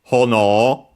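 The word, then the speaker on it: 炎: it's a strict Japanese reading is hono which we have seen in before accented on the first syllable.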